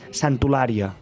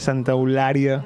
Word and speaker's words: Santa Eulàlia: tota la vida, és Santolària. Santolària, tot junt. Just quan veníem dèiem que perquè a Eivissa Santa Eulària es diu amb R, en canvi aquí s'escriu amb L.